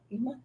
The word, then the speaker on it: Yuma: Yuma, am I saying it right? Yuma. Yuma, Yes.